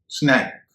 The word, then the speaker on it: snack: ब्लैक, स्नैक, SNACK, नाश्ता, स्नैक। स्नैक और स्नेक दोनों की स्पेलिंग में अंतर है।